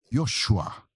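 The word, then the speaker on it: יהושע: No original hebraico, Josué se escreve Ior Ior Shuá. Ioshuá.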